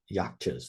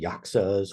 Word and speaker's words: yaksha: So first of all, what are yakchas? They're sometimes called yakcha. That's the Korean pronunciation. Sometimes called yaksas or yakshas.